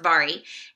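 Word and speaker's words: Mhairi: TBR so forgive me for that it is pronounced vari and I am listening to that on audio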